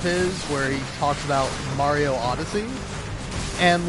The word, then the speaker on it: Mario: It's not Mario.